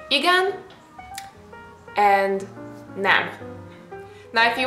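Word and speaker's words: igen: say yes and no yes in Hungarian means again i g n I think it's pretty straightforward nothing uh crazy is happening here you just pronounce basically whatever you see so you say again and if you want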